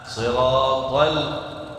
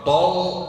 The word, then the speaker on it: صراط: Ta beda sama la. Ta huruf besar, kuat. La huruf tipis, halus. La. Siratal, tal, bukan tol, salah.